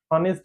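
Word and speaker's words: honest: नहीं ऑनेस्ट ऑनेस्ट इज the correct pronunciation of the word.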